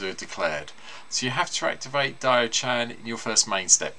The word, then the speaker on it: Diaochan: again anywhere um but Dio Chan Dio Chan I hope I saying it right sorry di Chan is how I've been told it should be pronounced um is one of